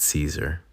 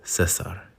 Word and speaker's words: Cesar: This episode is dedicated to my friend, Cesar. I think I said it right. Americanized it Cesar, but he was teaching me how to say it, and it's Cesar.